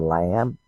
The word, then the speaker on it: lamb: changing it to the lamb, and you wonder why they put the B there. Why this silent B?